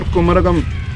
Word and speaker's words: Kumarakom: How to pronounce it correctly, this place? This is for Kumarakom. Kumarakom.